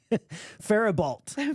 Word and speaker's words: Faribault: Faribault. Faribault. Oh, the T is silent. The T is silent, and so is the I, apparently.